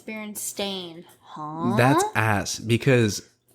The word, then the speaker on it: Berenstain: The lovable cartoon bear family actually spelled their last name with an A. The Berenstain. It looks like stain, but they might have actually pronounced it Steen.